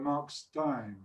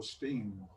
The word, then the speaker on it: Stein: on the zombie yelp it's uh mark stein or steam depending how you're going to pronounce it today of vanilla fudge and